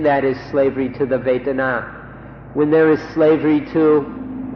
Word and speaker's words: Vedana: in fact, to remember this word Vedana, or in Thai, Vetana. It's spelled in Roman letters V-E-D-A-N-A, Vedana or Vetana.